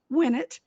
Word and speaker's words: Winnett: So my guest today is Winnett to Winnett. That's how you know how to pronounce his name, Winnett.